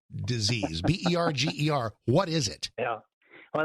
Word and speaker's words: Berger: What is Berger's disease? Berger. What is it? Yeah. Well, that's how I pronounced it first. I think it's actually pronounced Berger disease.